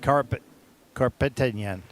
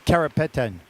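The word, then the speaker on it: Karapetyan: The next skate represents Our next skater represents Armenia, Sophia Carpetan. Sorry, I said it wrong. Carropeten.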